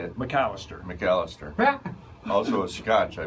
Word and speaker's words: Macalester: That's correct, but your pronunciation is. How do you say it? McAllister.